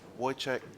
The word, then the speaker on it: Wojtek: So it's Wojtek Szewczyk. Wojtek? Wojtek. Wojtek. You got to get the oi.